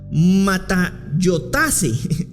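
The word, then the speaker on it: ματαιότης: Esta palabra se pronuncia como matayotase, ¿verdad?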